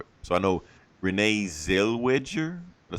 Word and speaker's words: Zellweger: So I know Renee Zellweger. Did I say it right? Zellweger, yeah.